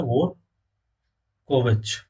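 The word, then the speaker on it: Dvorkovich: और इसके जो प्रेसिडेंट है वो है आरकादी डी वोर, डी साइलेंट रहता है, वोर कोविच, ये प्रेसिडेंट है।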